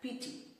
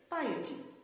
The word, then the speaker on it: piety: blasphemous which means unholy after that we have p-i-e-t-y which is commonly mispronounced as pt the correct pronunciation is piety piety which means the quality of being religious